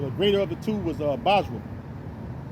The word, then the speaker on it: Basra: The greater of the two was Basra. I always say Bosra. You say that too. Some people pronounce it that way.